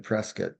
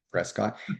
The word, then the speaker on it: Prescott: And so, but they didn't have an office up in Prescat. They call it Prescuit, but it's really phonetically Prescott, but I would train.